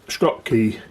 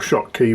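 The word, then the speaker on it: Schottky: Um, they're 100 times quieter uh than a Scott key. So, or shot key, whichever you want to pronounce it.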